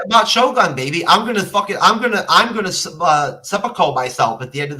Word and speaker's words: seppuku: It's called seppuku, Jeff. Whatever. You can't even say it right.